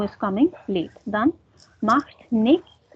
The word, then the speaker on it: nichts: Dann macht nichts. So that is nichts oder nix. Some people pronounce it as nix. Like nix.